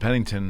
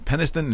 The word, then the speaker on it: Penniston: Well, the story of the Burroughs and Pennington, am I pronouncing that correctly? Penniston and Burroughs give is they were pretty much interrogated and threatened by the government not to talk or anything.